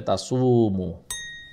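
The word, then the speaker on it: تصوموا: মিমের পরে আবার আছে মিমের উপরে আছে দম্মা এবং তারপরে আছে ওয়াও তাহলে এখানেও মাদ হবে তাসুমু এই হলো তাসুমু এরপরে খাইরুন খাইরুন আমরা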